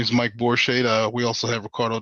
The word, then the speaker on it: Borishade: Ricardo Da Silva and borsche I hope I pronounced that right be blessed yes sir you did yes sir you did uh good afternoon everybody my name is Mike borschade uh we also have